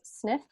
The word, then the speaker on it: SNF: is abbreviated snf and we usually pronounce as sniff is a facility that